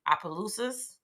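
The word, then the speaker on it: Opelousas: Adam Frank Senor and she grew up in Appaloosas Louisiana a very small town what' you say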